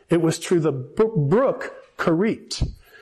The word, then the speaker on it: Cherith: was through the brook kit that's how it's pronounced in Hebrew cherith or whatever in in